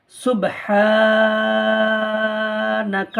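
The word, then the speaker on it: سُبْحَانَ: scene বাপে সুব বাটা কলকলা হবে সুব বলবেন না সুব হা আলিফ জবার হা এক আলিফ টান হবে সুবহানা নুন জবার না সুবহানা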